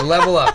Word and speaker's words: LVLUP: I didn't know how to pronounce it, but it was actually called. It's okay, me neither. No, I'm just kidding. Level Up. It's Level Up, yeah.